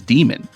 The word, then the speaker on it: Demon: Do you like Damon? Yeah. Damon. Oh, yeah, and I think in the doc it's misspelled because his name is Demon.